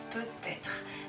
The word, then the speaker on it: peut-être: Là, on n'a pas trop à réfléchir parce que le T, on l'entend, peut-être.